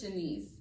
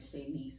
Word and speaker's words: Shanice: and then or they would get my name wrong like shay niece or something so anyways so i